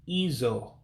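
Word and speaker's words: ịjụ: So to ask is izo, ask. Izo, ask. And remember, the U's with the diacritic or the dot underneath means you pronounce it as an O.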